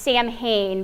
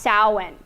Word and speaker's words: Samhain: soin now it looks like it would be pronounced Samhain but it's pronounced soin and during the time of salan the October